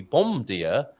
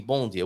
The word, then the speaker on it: bom dia: B-O-M, that should be bom dia, but it's actually bom dia. What's going on there, Raquel? Why are we saying an N sound instead of an M sound?